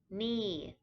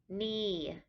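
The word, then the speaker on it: นี่: the word for this is knee knee it is a falling tone so it starts off higher and then comes down like you're falling off a cliff means this this is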